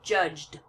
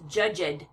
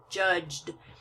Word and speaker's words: judged: is not excuse me the E is not pronounced it's silent it's just there to